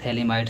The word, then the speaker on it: phthalimide: थे limit synthesis इसका नाम है कि रियल थैलिडोमाइड सिंथेसिस थोड़ा सा लोग स्पेलिंग यह ध्यान दीजिएगा थैलिडोमाइड में यहां पर